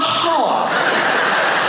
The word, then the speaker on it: half: I'll be back in a half." Half a half a half in half has an L IN IT.